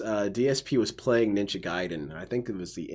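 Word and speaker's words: Ninja Gaiden: he was saying that he calls it Ninja gayen but some people call it ninja giden and actually both both pronunciations are fine to which my response to that is not really there is a way that it's pronounced it's Japanese giden so DSP insists through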